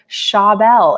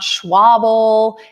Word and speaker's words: Schabel: And in this case with Dan, it's Dan Schabel. It's not Schwabel. It's not Schlabel.